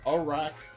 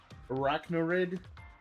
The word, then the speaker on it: Araquanid: Arachnoid. Not wid. Arachnoid.